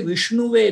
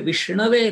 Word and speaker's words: Vishnave: We don't say Vishnuve Namaha. We say Vishnave Namaha.